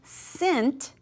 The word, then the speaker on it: scent: And then scent. Scent, we don't say scent. The C right here is our ghost, it's a very quiet letter.